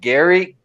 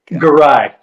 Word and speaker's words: Garai: Is it Gary? Garai. Garai. All right. Yeah, Garai, Gary.